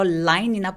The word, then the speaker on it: line: L로 시작하는 소리를 light L이라고 해요. 그래서 line이나 black과 같이 단어의 앞에 있을 때 얘네들은 정확한 L 소리를 내면서 발음을 하는데요. 이 L 소리는 line, black 하면서 우리나라 말의 리을 발음과 좀 다릅니다. 그래서 혀가 천장에 랄랄라 할 때처럼 우리나라 말의 리을하고 다르고요. 천장에 닿지 않고 윗니에 닿아서 line. 그래서 을 이 앞에 붙어 있다고 생각하시면 돼요. 그래서 line 아니고 line, 혀 긁기.